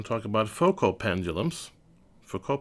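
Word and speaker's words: Foucault: talk about focal pendulums four core pendulums I guess they should be pronounced which is a more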